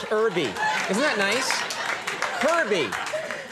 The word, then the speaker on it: Herbie: I do the H is silent. Herbie.